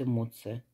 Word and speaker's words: эмоция: на 25 сантиметров и эмоция получается ударение на букву О значит эмоция эмоция цветок это или бабочка